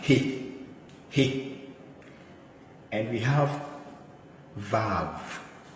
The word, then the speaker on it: He: So this is he. Letter H, like H sound. He.